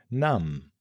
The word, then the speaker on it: numb: Now, for one of the most puzzling silent letters, the B at the end of words like climb, thumb, lamb, numb, bomb. The rule here, when a word ends in MB, the B is usually silent.